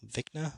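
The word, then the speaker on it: Vecna: season four's terrifying villain which i believe you pronounce it as dekna vikna v-e-c-n-a was is 90 practical effects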